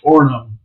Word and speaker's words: Orono: That was the nature of government in Orono. I can always say the name wrong. Is that right? Orono. Yeah, you don't say the second O because it's one of those weird Minnesota words.